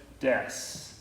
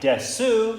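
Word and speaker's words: です: And then all roads end with des. Even though it looks like desu, it's pronounced des.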